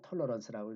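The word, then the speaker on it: tolerance: 그래서 오늘날 보면 아주 그 굉장히 모범적인 대형 교회 같은 그런 모습인데, 여기 이제 핵심적인 문제는 뭐냐면 잘못된 톨레랑스 프랑스어인데요. 영어로는 그냥 톨러런스라고 읽으면 되는 거죠.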